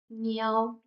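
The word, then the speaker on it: 鸟: N, yao, niao, niao means bird. If pronounced with the fourth tone, niao means to go to the bathroom to pee.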